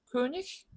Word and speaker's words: König: König, richtig, Igel, dich. 자, 얘만 다르죠. 나머지는 전부 ich 발음입니다. 1번과 2번은 지난 시간에 말씀드린 대로 단어 맨 끝에 이 개가 오면 이크 발음이 아니고 ich 발음이 난다라고 말씀드렸어요.